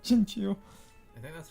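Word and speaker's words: Chinchou: They don't call it Chinchow, they call it Chinchu.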